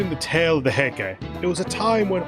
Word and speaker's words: Heike: Oh god, how do you pronounce that again? Heike? I don't think it's Heika. As described in the tale of the Heike, it was a time when all that was great would fall from grace.